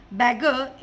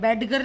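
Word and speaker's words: beggar: एज a matter of fact the little elf वॉज अ बैगर in every possible way every day. इसमें डी मैंने silent किया है, बैडगर नहीं बोलेंगे, बैगर बोल दिया हमने।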